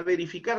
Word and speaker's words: verificar: Si la acentuación se encuentra en la última sílaba, como es este caso, estamos frente a una palabra aguda.